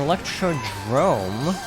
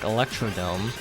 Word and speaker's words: Electrodrome: So Electrodrome, which is frequently mispronounced because it looks like Electrodome on a quick glance.